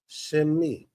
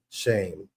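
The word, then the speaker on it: שם: Shemi. Almost sounds similar with like Shem. People say Shem for name. I teach it as shame.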